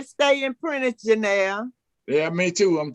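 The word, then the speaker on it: Prentiss: How do you pronounce it? Who? It's Prentice.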